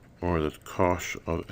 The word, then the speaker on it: cosh: have the hyperbolic cosine it's written Kos H pronounced cosh it's a cosh of X times y cosine